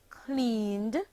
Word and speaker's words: cleaned: The verb clean, clean, becomes the past tense verb cleaned, cleaned, and is pronounced cleaned, having only one syllable.